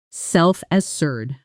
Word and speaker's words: self-assured: The stress falls on the second syllable of decisive, decisive, and on the first syllable of self-assured actually lands more on assured, self-assured.